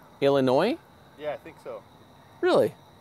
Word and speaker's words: Illinois: Illinois has no S's, it's silent. Really? Thank you. Wait a minute. So how do you say Illinois? Illinois?